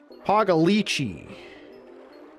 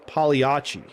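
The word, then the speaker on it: Pagliacci: I say polyiachi. Aren't there some G's in there? Pagalichi. Pogliachi. But you say piachi. I'm looking it up right now. Pronunciation. Oh no, I'm wrong. The G is silent. Oh, all these years I've been saying that and it's like nope. You think you're smart bring it up polyiachi. It is It is polyiachi.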